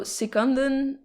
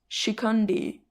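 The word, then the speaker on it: Shikhandi: So Sikandan, and I think it's pronounced that way now because Shikandi is the other pronunciation that I was finding with the like sh sound at the beginning, but it's still like a short a sound.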